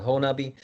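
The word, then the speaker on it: Honobia: bail hole nut hole it looks like hoenobia is how it's spelled but it's called honubi that is a very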